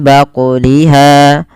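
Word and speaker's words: بقلها: Kemudian pada lafal baquliha ada bacaan qalqalah pada lafal huruf qaf yang disukunkan. Maka cara membacanya harus memantul dan tidak boleh menambah hamzah, yaitu mim baquliha.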